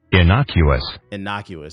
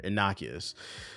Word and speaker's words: innocuous: Can I get a pronunciation? Innocuous. Okay, that is how you pronounce it. That I looked at it, I was like, but you're never sure. Innocuous.